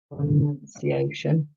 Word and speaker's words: pronunciation: up wow we pronounce pronunciation i can see the difference pronounced has an ou pronoun pronunciation only has a u so we pronounce pronunciation differently can you say both